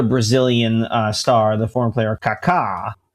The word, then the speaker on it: Kaká: star, the former player Kaká. Kaka with an accent on the last A, in spite of what it might look like when written, who did that in a game.